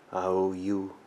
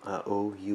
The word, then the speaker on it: Aoyue: o seu emprego que o pessoal eu aqui pronuncia áudio e não ah oui oui oui é uma chinesa uma